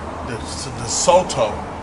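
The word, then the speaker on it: DeSoto: I'm here with a 56, the Soto, is how you say it.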